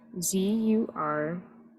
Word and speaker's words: Zurkhaneh: It's Zurkhaneh. Yes. And you're saying it's the last H that sometimes gets yeah, dropped. the last H sometimes gets dropped.